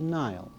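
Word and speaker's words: Niall: by the name of neil n-i-a-l-l you may if you wish give it the english pronunciation of nile neil is not only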